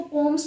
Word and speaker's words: poems: Sorry to से, यू can check out on Google as well, it इज not known as पोएम, इट is known as पोम।